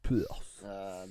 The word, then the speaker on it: Perth: Déjà pour commencer, à Perth, oui, ça se prononce comme ça. Perth.